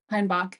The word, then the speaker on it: Heinbach: Heinbach. Yep. Okay, so that's how we pronounce that.